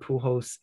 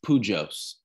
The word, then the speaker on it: Pujols: then he had albert pujols adrian beltray and then miguel caprara and a-rod right around him like that's some pretty good company for interesting you're saying it wrong it's pujos pujos yeah pool hoes um so yeah i